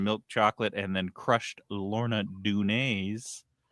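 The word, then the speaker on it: Lorna Doone: With a big chunk of caramel inside and covered in milk chocolate and then crushed Lorna Dun.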